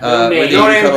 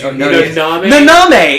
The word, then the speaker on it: Naname: No name cookies. Naname. It's Japanese.